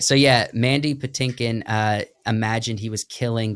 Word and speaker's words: Patinkin: delivered because Mandy pakin is how you say his last name Patinkin Patinkin Patinkin yeah imagined he